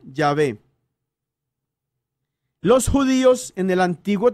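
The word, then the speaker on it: Yahvé: a las cuatro consonantes no era jehová sino llave los judíos en el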